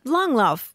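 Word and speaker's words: Langlauf: kind of cross country skiing or particular kind long love long love kind okay there we go very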